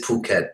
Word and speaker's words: Phuket: I'm I so much to hear you guys pronounce it properly it is Phuket yeah yeah I really I originally thought it